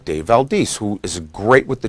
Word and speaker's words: Valdez: How do you pronounce his name? sir? Valdez.